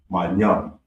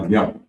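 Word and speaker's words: מים: So water is pronounced my young. May my young and it's spelled m a y a n.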